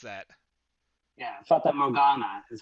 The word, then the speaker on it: Fata Morgana: How do you pronounce that? Yeah, Fata Morgana is how Okay.